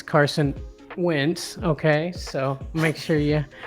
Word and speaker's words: Wentz: Well, first of all, you said his name wrong. It's Carson Wentz.